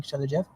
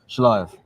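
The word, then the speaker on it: Shelajev: And you and Oleg, our mutual friend Oleg Shalajev. Did I mispronounce that badly? You did, but that's fine. Shalayev.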